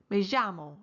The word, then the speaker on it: me llamo: The native speaker in this course uses the J sound when pronouncing the double L, as in me llamo or ¿Cómo se llama?